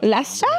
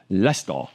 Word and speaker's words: Leicester: Oh, in Leicester in an in in a small town called Lester. Middle England. Lester. Lester. Lester. It's spelled like Lyster, right?